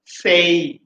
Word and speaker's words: say: পরেরটা say, say। একটা টিপ বলে দিই তোমাদেরকে। If you have ay at the end of any word in this world, the pronunciation, the right pronunciation of ay will be a।